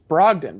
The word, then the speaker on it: Brogdon: really like him malcolm brogdon you can't even say his name correctly Brogdon bro it's Brogdon that's gone is it